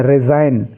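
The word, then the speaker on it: resign: जितने भी वर्ड हैं इनमें जी साइलेंट है जी का आपको कोई उच्चारण नहीं करना है तीसरी पंक्ति में जो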